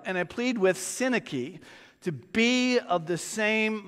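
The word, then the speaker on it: Syntyche: and I'm might get it right Yoda and sinaki that's how it's pronounced I plead with you I plead with where was I I plead with Yoda and I plead with sinaki to be of the same mind in the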